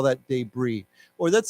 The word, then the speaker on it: debris: before is not pronounced there's no s because it's a French word so we say debris okay like b-r-e-e why don't we say together debris debris okay I guess